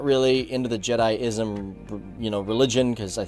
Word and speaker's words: Jediism: you're pronouncing jedism or jediism as jedism it's pronounced jedi-ism now I actually called